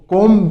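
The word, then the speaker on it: comb: जब भी आप कंघी या शहद का छत्ते का वर्ड यूज़ करो ना तो इसमें बी साइलेंट रहेगा। सिर्फ क्या बोलोगे? कोम। बी नहीं बोलोगे। ब नहीं बोलोगे को।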